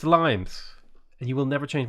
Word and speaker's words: limes: in english is pronounced limes not limes right despite the fact that it's a latin word it's limes and you will never